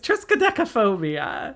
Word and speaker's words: triskaidekaphobia: It's triskaidekaphobia. Oh. Scary. In combination with triskaidekaphobia, is that how it's pronounced?